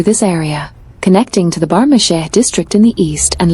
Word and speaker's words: Bagh-Misheh: Bagh-Misheh, locally pronounced as Bagh-Misheh, is a historic neighbourhood of Tabriz, situated in the northeastern part of the city.